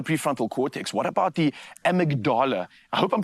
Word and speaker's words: amygdala: What about the amygdala? I hope I'm pronouncing that correctly.